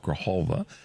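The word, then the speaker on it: Grijalva: Um, Representative Grahalva from Arizona. I've been changing the aphonetics on that. Grahalva is the corre correct pronunciation.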